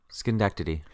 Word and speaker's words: Schenectady: And where we see him is he suddenly appears on a street corner in, I'm going to try to pronounce this, Schenectady, New York. Schenectady.